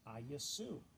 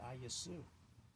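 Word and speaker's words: Ἰησοῦς: letters and those Greek letters produced the name aasu that's how you pronounce the Greek and since it's a transliteration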